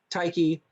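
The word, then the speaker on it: Tyche: uh i'm sorry mike is that teich or uh taiki taiki uh planning and policy group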